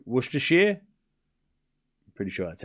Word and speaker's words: Worcestershire: Can I pronounce Worcestershire? I know it's not Worcester. It's like Worcestershire, right? Worcestershire?